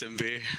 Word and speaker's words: Simbi: How do you pronounce her name? It's just Simbi. Simbi.